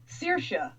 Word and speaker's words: Saoirse: just guessing I'm assigning no I was wrong it's Saoirse like strong of the sickies Saoirse